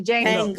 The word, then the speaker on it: Django: kind of like somebody said it was like Django a little bit. Yeah. I like the Django. I like I thought it was the really Django. good. The The Django. Django. What was it? Django or the Django?